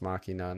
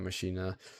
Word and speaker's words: Machina: true Damon x uh I think it's pronounced Machina not mashina but they they had